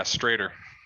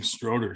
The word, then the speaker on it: Stroeder: Is that how you pronounce your last name? Yeah, Stroeder. Everybody's always saying Stroeder, so I was like, I better ask because